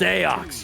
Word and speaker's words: Seox: hear it too well though it's pronounced SEO you un culture and